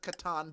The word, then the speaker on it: Catan: from the 1980s and count pronounced Catan would be a weird